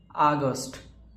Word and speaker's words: আগস্ট: অগস্টকে আমরা ভালোভাবে উচ্চারণ করলে বলা হয় আগস্ট।